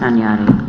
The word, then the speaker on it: Hunyadi: Next item to recommend a public hearing, 289 Hyundai Avenue, subdivision application of 289 Hunyadi Avenue, subdivision. Your Worship, Pronounced Tanyati.